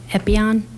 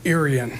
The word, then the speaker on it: Irian: Epion? I don't know if I'm pronouncing that right. Then we have Sandra Weathers and then Amber Varwig. How do you pronounce it? It's Irian. Irian, Yes.